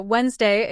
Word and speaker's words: Wednesday: So Wednesday is spelled with a D because it comes from Woden's Woden being a Norse god.